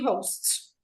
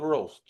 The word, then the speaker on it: host: Okay, the pronunciation is this, Ale. TV TV TV ho- host.